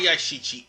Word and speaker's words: Yashichi: give me a second it's a shichi i mispronounced the damn thing in part two and one but there's a lot of yashichi everywhere in fact there were two parts in